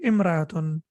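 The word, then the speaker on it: امرأة: So then the hamza will not be pronounced. So three things we need to remember. If we read it by itself, it will be imra'atun.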